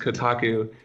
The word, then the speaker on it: Kotaku: point where the fact that my website is pronounced Kotaku is way way down on my list of